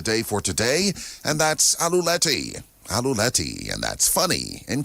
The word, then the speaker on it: aluleti: word of the day for today, and that's aluleti. Aluleti. And that's funny in Kalanago. And that's spelled A L U L E T I.